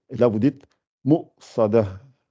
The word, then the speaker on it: مؤصدة: Et quand vous la lisez, c'est obligé de la prononcer. Et là, vous dites Mu'sada. Mu'sada, si vous vous rappelez